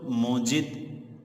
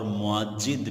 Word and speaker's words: موجد: اس لفظ کو موجد بھی پڑھا جا سکتا ہے اور معجد بھی پڑھا جا سکتا ہے، واو کے حمزہ کے ساتھ، معجد اور جیم کی تشدید کے ساتھ، اور موجد